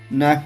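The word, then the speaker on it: knife: तरह से नी बोलेंगे तो नी में के साइलेंट है नेफ बोलेंगे तो ने में के साइलेंट है राइट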